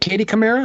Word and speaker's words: Katie Kamara: Is it Katie Kamara? Is that how it's pronounced? Yes. Okay.